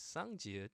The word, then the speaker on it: 쌍지읒: Okay, and sounds like double J, of course, and it sounds like I could only think of in English mid jack, jack. You know how that J pronunciation is a little has more stress into it. Jack.